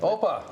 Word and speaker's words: Opa: Opa.